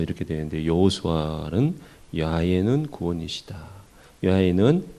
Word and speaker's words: 야훼: 야훼는 히브리식으로 그냥 그대로 발음을 한 거고 여호와 이렇게 영어식으로 할 수 있어요.